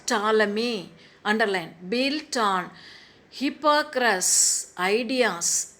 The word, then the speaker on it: Ptolemy: Ptolemy, how to pronounce? Ptolemy, underline, built on Hippocrates' ideas and later developed a model of motion of the planets and stars.